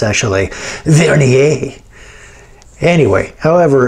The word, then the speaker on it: vernier: telling me i mispronounce it and it's actually vernier anyway however it's pronounced you can use this to get down